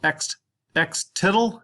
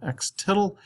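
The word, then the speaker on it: x-tilde: The median is, this is pronounced x-tittle. It's got this little squiggly thing up there. It's pronounced x-tittle.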